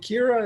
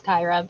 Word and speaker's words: Kyra: And is it Kira? Am I saying it right? It's Kyra, but Kyra, I I'm get that all sorry.